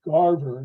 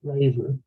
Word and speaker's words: Garver: on her argument yeah her name is Garver not Graver oh okay well okay